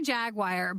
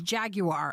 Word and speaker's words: Jaguar: right now no we we say jagwire but the correct pronunciation for the car is Jaguar oh wait yeah yeah Jaguar that's the British thing that's the British way of saying no I can't get